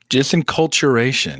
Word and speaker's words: disenculturation: this term called and i'm probably going to say it wrong disinculturation disenculturation yes okay disinculturation okay thank you for helping me pronounce that now i will have